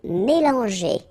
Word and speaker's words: mélanger: And then mélanger. Okay, remember, G, E, goes like je, okay?